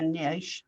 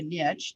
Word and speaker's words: niche: ideally it would be a niche or a niche depending on how you communicate or you want to pronounce that but some kind of